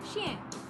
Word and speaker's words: chien: Well, Sister Racy, the word dog in French is pronounced chien.